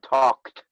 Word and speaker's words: talked: talk alt talked but as soon as we hear the k we lose the l talked all right the